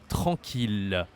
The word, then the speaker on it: tranquille: This is not easy to say. Tranquille, okay? Tranquille. So I know there is double hair here, but it's as if there was just one, okay? And QU, you say que in French, tranquille. And here there is a nasal. Oh, tranquille, tranquille.